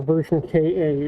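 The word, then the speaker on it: Ver.Ka: just a verka or version k-a which is apparently the appropriate proper pronunciation of vanica uh the version ka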